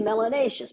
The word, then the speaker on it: melanaceous: If you have more melanin, you must be melanaceous. Melanaceous, which rhymes with gracious and spacious and efficacious.